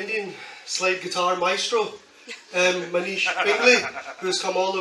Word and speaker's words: Pingle: There we go, the Danish Pringle. Ah, because it's Pingle. It's Pingle. Ah, you know what? I've been saying Pringle. Everybody pronounces Pingle.